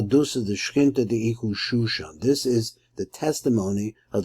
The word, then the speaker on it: Shoshan: And it's spelled as these are two shins. So it doesn't say Susan, or Sason, or something like that. It says Shoshan Eidus.